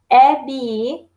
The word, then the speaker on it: әби: Эби, бабушка. А вот здесь наоборот, видите, буковка Б. Она умягчается, она говорится как эби, би.